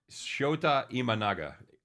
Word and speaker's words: Shota Imanaga: for San Diego against Shota uh IM Shota imanaga Shoto Shoto imanaga I I knew I